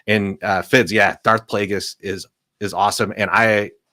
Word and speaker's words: Plagueis: would be really cool if we're gonna say it we're going to say it right it's Darth Plagueis the Wise that's true